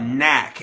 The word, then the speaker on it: NAC: uh glutamine Glycine and another one called Knack it's spelled n a c it's spelled in acetal sine but you can Source it by the name Knack NAC ketogenic diets are really